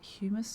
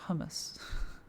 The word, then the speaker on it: humus: Mus is it humus? Is that how you pronounce it? It's definitely not hummus. Certainly not hummus. Um, that's with two M's.